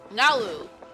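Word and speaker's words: Nilou: Nalu. That's how you say her name.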